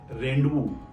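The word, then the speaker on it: rendezvous: यू एस रेंड वू यहां पे जेड दिया तो गया है लेकिन हम इसको पढ़ते नहीं है फिर से स्पेलिंग चेक कीजिए आर ई डी ई एन जड वी ओ यू एस रेंड वू पीछे भी एस है एस को भी हमने नहीं पढ़ा है रेंबो ये अपवाद है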